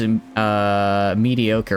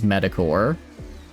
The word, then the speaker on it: mediocre: Then there was Mediocre, which I used to pronounce as Medicore.